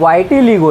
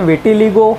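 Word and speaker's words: vitiligo: आगे बढ़ते हैं, नेक्स्ट जो है हमारा वर्ल्ड वाइटिलिगो डे, ओके, सो इसे विटिलिगो या वाइटिलिगो आप प्रोनाउंस कर सकते हो, सो वर्ल्ड वाइटिलिगो डे ये जो है ये भी सेलिब्रेट किया जाता है 25 जून को।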